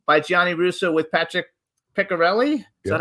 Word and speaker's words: Piccarelli: It's Hollywood Godfather, My Life in the Movies in the Mob, by Gianni Russo with Patrick Piccarelli. Is that how we pronounce it?